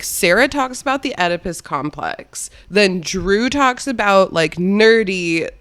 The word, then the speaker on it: Oedipus: about the Oedipus Oedipus like try to say edible and then just change the end like Oedipus yeah all right we're